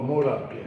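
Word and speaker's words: Modoc: so you know what how do you say that street m o d o c Mok or modok oh modok modok street right there the youngster and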